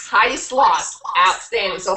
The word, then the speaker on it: Sloss: do is not say your name right Heidi sloth Heidi sloth outstanding so how what makes you one of